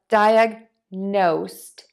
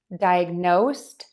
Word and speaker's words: diagnosed: diagnose now for diagnosed we are just going to add a T to the end of that word if you're interested in